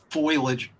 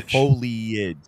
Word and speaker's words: foliage: and hack through the the foilage foilage or foliage foilage foilage I think it's foilage no foliage I think pronounce things